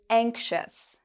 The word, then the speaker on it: anxious: Ious in this word is pronounced as a shus, anxious.